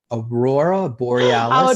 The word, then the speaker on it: Aurora Borealis: Aurora Borealis and Aurora Borealis.